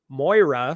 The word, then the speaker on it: Moira: Um but uh Moira Kelly Moira, sorry that's how you say her name.